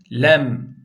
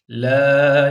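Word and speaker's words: ل: da ince okumamız gerekiyor lem la ilahe illallah le o zaman la demeyeceğiz yani genelde kelime-i Tevhit bile la ilahe illallah Yani doğru değil Şimdi çok manayı değiştirmiyor aslında ama ben güzel okumak istiyorum tecvitli okumak istiyorum Eee yani Kur'an'ın indiği dönem gibi E bir hassasiyetle okumak istiyorum derseniz buna la demeyeceksiniz bu ledir Mim arkadaşlar me diye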